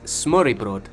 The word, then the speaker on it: Smørrebrød: Correction, it's Smørrebrød. Hopefully that's pronounced correctly.